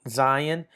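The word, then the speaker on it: זַיִן: Zion. And the way these letters are pronounced, the name of the letter kind of gives you some help, right?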